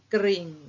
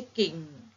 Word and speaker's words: กริ่ง: เสียง กระซิบ นะ คะ กระ ติ๊บ ไม่ ใช่ กะ นะ คะ กลิ่น ไม่ ใช่ กิน นะ คะ กริ่ง ไม่ ใช่ กิ่ง นะ คะ เพราะ ฉะนั้น เด็ก